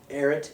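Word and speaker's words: Ehret: both in denver and their last name was eric also yeah he ate they spell it e-h-r-e-t and that's how they came over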